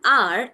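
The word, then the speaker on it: hour: Also, an R, even though it is starting with letter H, the H is silent. The word starts with R sound, R.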